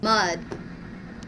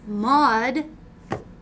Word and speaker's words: Mad: what's your last name mud Raven mod no I'm not getting anything out of that either how do you spell that mud m-a-d m a d explain it that spells mad uh it's mod thank you if you